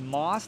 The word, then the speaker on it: MAUS: plug in discount code Moss. That's spelled M A U S like German mouse, but it's pronounced moss.